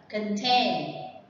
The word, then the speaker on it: contain: mang nghĩa đó là contain. Contain is mean have something inside. The stress is on the second one, remember?